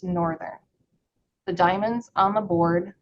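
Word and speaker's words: NRTHN: For example, the spelling of the NRT thn departure is pronounced northern.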